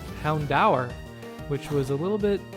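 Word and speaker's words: Houndoom: in this entire playr I'm so used to saying it like it is ingrained in my head to say Hound door from just my childhood and then I'm looking up how to pronounce it properly here and it turns out it's actually Hound da which was a little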